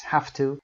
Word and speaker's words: have to: صدای و رو میگیم ف مثل freedom ف و to رو که با او کوتاه میگیم to.